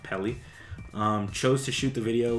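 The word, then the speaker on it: Peli: So the director, Oren, I think his last name is pronounced Pelly, chose to shoot the video with a home camera.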